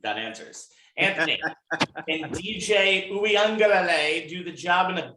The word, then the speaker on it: Uiagalelei: So the law is actually la. It's la. Not lay. Uiagalelei.